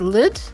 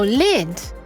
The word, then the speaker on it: lyd: Oh, lid. Lid. Lid. So not lead and not lud, but lid.